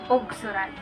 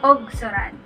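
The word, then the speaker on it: ugsuran: So instead of U, it's O.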